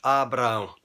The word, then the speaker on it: Abraão: Na língua portuguesa, a letra A foi acrescentada ao nome Abrão e nós pronunciamos Abraão.